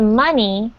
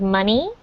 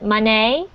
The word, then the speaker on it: money: pronunciation of this word money because a lot of foreign language learners pronounce it monet but you really want to stress it's the letter almost like the letter e in our alphabet it's mon e money